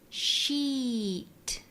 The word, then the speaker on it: sheet: ELSA tells them, to make the E sound, try to spread your lips and slightly lengthen the vowel. Sheet.